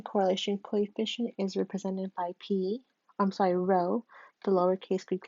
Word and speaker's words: rho: Where n is the number of pairs of data, the population correlation coefficient is represented by rho, the lowercase Greek letter rho, pronounced rho.